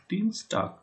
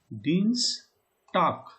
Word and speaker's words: Dienstag: So when you will be pronouncing it, so it has to be Dienst. Just see how I write Dienstag. This is how it will be pronounced. You can always say Dienstag, but in general, whenever you will be talking to any German, it will be Tag, Takh. Likewise, it will be Montag.